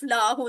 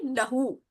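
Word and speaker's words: لهُ: वो लाम जबर अलिफ ला हो जाएगा उसका मतलब होता है नहीं यहां इसको जरा प्रोनाउंसड करते हुए थोड़ा सा ख्याल रखें लहू लाह नहीं लहू लहू का मतलब क्या होता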